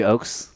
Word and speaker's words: Ochs: Jeffrey Ochs. Jeffrey Ochs.